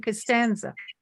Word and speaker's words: Costanza: last name I said the one with the hard c not the Soft C he said Oh you mean Costanza so Tommy Costanza gets